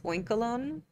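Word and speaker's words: Oinkologne: Oinkalone? Like cologne, oinkalone.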